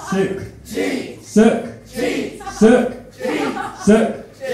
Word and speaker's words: Sukhjit: So when I say Suk, you say Jeet. Suk. Jeet.